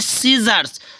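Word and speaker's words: scissors: mean दृश्य होता है जानते हो नेक्स्ट है सीजर्स सीजर्स में एस सी आई है तो एस यहां पर क्या है सी साइलेंट हो गया है तो हो गया सीजर्स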